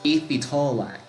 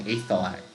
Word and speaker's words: Aethitalac: Let's see, Godzilla said not tail, tall. Okay, so it's Aethitalac. Aethitalac. Interesting. I've been saying it wrong for the longest time. I've been saying Aethalac.